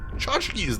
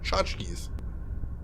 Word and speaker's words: tchotchkes: Tchotchkes, that was it. That's how you pronounce them. Tchotchkes.